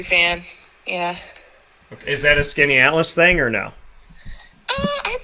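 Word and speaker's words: Skaneateles: been a country fan yeah is that a skinny atlas thing or no oh i'd say probably uh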